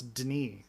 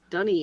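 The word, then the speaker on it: D'ni: it's really confusing because in the books it's like d apostrophe ni like that's Den or deny Den something like that but no it's dun dunny is how they pronounce it I don't know where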